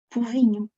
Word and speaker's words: povinho: Povinho. Passa a U.